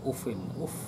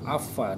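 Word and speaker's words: أف: Uffin ini sebuah ungkapan di Arab, ufin, atau kalau di Mekah itu afa, dibaca afa. Kalau Syam afu. Ada ufin, ada afa, ada afu. Ada 3 pelafalan ini. Ada Syam, ada Maki, ada Madani, wa Hafsah, wa qiraatul Hafs itu ufin. Kalau afa itu Maki, wa Syami afu.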